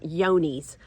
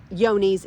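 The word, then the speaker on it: Johne's: we also tested for the disease called yonies um it's it's actually spelled like with a j j o h n n s I believe it affects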